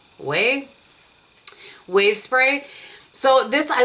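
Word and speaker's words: OUAI: how you say it it's not wi it's o u a i way wav spray so this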